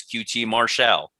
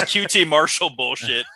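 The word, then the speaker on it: QT Marcel: this was tony shivani correctly pronouncing his name as qt martial he has finally solidified that he is the french inspector we always knew and this qt marshall was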